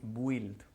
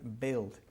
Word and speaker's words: build: Hay una tendencia aquí en España de decir build. ¿Ok? Lo cual no es cierto. Hay que decir build, como si fuese B y latina LD.